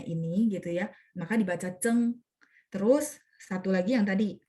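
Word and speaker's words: 曾: Kalau dia dipakai di marga, misalnya ada orang marganya ini gitu ya, maka dibaca Cheng. Terus satu lagi yang tadi Zeng Zumu, Zeng Zufu, yang tadi buyut ya, sorry, buyut.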